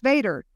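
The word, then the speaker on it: VATRE: approved tax rate election pronounced Vader just like Darth Vader it is a $19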